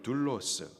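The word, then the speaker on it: δοῦλος: 하고 거슬러 말하지 말며 종 헬라식 발음으로는 둘로스 한국말로 다시 번역하면 노예를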